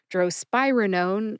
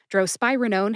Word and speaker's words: drospirenone: Drospirenone has 4 syllables. Droe, like a drone. Spy, as in James Bond is a fictional spy for the British Secret Service. And Roger Moore, by the way, is my favorite James Bond. Like rug, and known like birth control pills are known to prevent pregnancy. Put all 4 syllables together and you get drospirenone. Drospirenone. Emphasize SPYE. See if you can hear the emphasis when I say it again.